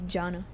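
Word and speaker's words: Gianna: shepher see you around it's an Italian name and if you pronounced it in Italian it wouldn't have the the e at all it would just be Janna but you know maybe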